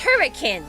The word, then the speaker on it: Hurricane: It's pronounced hurricane.